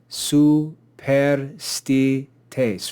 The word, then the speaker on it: superstites: Here we see superstites, superstites, 4 syllables. The penult is not marked as long here, therefore the antepenult is accented.